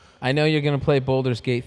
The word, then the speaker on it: Baldur: I know you're gonna play Baldur's Gate 3 yeah, I gotta. Why I do you want to. say it that way? because that's all he talks about. No, boulders. It's Baldur.